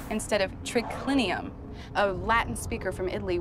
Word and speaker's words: triclinium: trichlinium is spelled t-r-i-c-l-i-n-u-m in latin it's spelled as it sounds but here triclinium has an h in it so it would be pronounced trichlenium instead of triclinium a latin speaker from